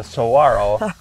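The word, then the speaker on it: saguaro: that one there's the Saro native cactus a lot of people pronounce that one wrong and you don't pronounce what is it the don't pronounce the G yeah exactly it's so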